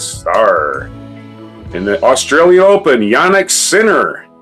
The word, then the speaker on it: Jannik Sinner: In the Australian Open, Jannik Sinner. That's how his name's pronounced. That's how it's spelled, so that's how I'm going to pronounce it.